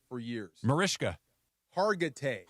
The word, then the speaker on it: Hargitay: Mariska Hargitay.